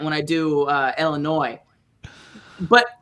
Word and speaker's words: Illinois: chicago apparently but in illinois there's a tendency for people that live there to pronounce it illinois like illinois instead of an eye gotcha and so i